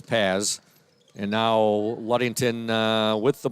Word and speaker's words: Paz: I apologize, I was mispronouncing her name earlier. It is Paz.